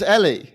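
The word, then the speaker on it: Elie: could be fun and is it ellie or l it's ellie it's ellie ellie because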